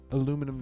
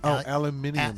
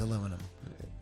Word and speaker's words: aluminium: and basses featuring machined aluminum necks. The first, there were guitars in the past, but No, it's not aluminum. What? It's aluminium. Aluminium. Sorry, I mispronounced that. It is aluminum.